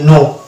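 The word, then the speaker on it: know: বাদ দিলে চলে আসবে নো এখানে কে হচ্ছে একটা সাইলেন্ট লেটার এখানে কে বসার কারণ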